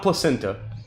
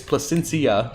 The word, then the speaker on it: Placencia: want to be clear it's not placenta no matter how many times you're tempted to pronounce it that way and every time i